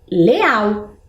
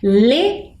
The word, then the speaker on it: leão: lá a gente lê Leal Será que existe essa palavra provavelmente não né Mas se a gente coloca o o tio a gente consegue ler ela de forma correta Vamos ler de novo leão muito bem vejam como